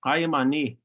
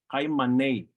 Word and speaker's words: kai mani: The Numu K sound is pronounced using your uvula.